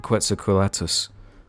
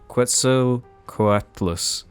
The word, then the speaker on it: Quetzalcoatlus: case in point the quetzalcoatus let me try that again quetzalcoatlus that's another one i